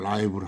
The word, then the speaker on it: live: 이 LIV, 발음을 라이브로 하고, 형용사로 쓸 때 라이브로 하고, 한정적으로만 쓰인다.